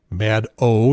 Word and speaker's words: Maddow: bagman it's from Rachel Maddow that's mad oh not Maddow shadow not mad cow' Maddow almost nobody who interviews